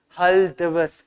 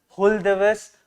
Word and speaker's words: Hul Diwas: Then comes the next second, that is Hul Diwas, H-U-L. You can pronounce it as Hul Diwas or Hul Diwas.